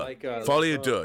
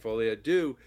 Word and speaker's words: Folie à Deux: and everybody should go see how do you pronounce it f Adu duh du F ad du yeah like by the way I only know